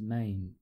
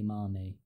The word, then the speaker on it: mame: specific size of bonsai mommy sometimes this is pronounced as main but properly said it should be Marnie this would get out of hand so to